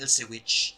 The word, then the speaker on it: Ilse Witch: characters including a new female character called the ilse witch that's how you pronounce it but the last memorable female character